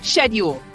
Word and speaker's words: schedule: This morning I read my email and said I check my uh schedule. Yeah, that turns out in British English it's more like schedule.